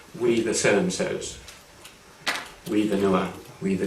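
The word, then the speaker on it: Nuer: We, and I'll go into this in more detail later, we the so-and-sos, we the Noah, we the Dinka, and then within that, we the people of so-and-so lineage within the Dinka and the Noah.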